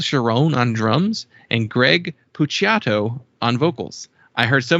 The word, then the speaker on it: Puciato: Puciato. The Italian pronunciation, unless I kept seeing like Puciato and Pucato, and it's just like way wrong.